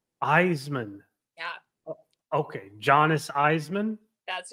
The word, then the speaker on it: Isaman: is it again um my last name is pronounced eisan Eisman yeah okay Jonas eisan